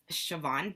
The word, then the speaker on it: Siobhan: who don't know me my name is pronounced siobhan bent sh with a v there is no sh or a v um but this